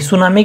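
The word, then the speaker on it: tsunami: सुनामी के अंदर T silent रहता है, हर कोई जानते होंगे वैसे।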